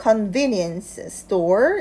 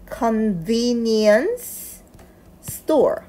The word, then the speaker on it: convenience store: convenience store 이렇게 하고요. 그 다음에 near here 이렇게 기준점도 강세를 두고 읽어줍니다. 자, 편의점이라는 단어가 굉장히 어려워요. 그래서 편의점이라는 단어를 먼저 읽어보겠습니다. convenience store, convenience store.